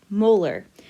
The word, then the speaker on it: molar: our unit for molarity this capital m stands for molarity and it's pronounced molar so that is telling